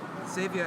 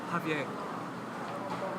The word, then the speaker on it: Xavier: Xavier is actually not the right way to pronounce that name. It's actually Javier.